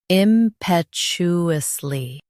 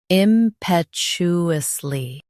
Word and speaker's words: impetuously: impetuously Now, read the syllables shown on the screen naturally. im pet u us ly impetuously Emphasize pet and soften u. The t is clear.